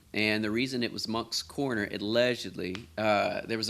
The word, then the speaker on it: Moncks Corner: say Monks Corner.